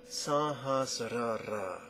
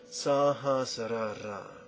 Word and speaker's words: Sahasrara: Now 4 syllables we're going to stack. Sahasrara. Sahasrara. Sahasrara.